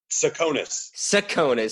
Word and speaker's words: Tsakonas: Tsakonas. Oh, God, I butchered that.